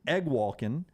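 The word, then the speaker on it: Eguakun: offensive side their Center Kingsley egg Walken I looked it up that's how you say that I would have never guessed that's how you pronounced that egg Walkin uh 26 starts at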